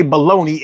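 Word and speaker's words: bologna: The worst thing I hate about baloney is the fact that it's spelled balona and somehow we say baloney and when I was little I couldn't figure the out what how what was going on.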